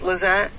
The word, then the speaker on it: Lisette: Just FYI, my name is pronounced Lizette.